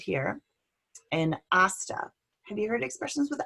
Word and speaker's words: hasta: I want you to think if there's any other hastas you've heard of, maybe in movies or something like that. Let's repeat this. Hasta, repeat an hasta. Hasta. No H is pronounced.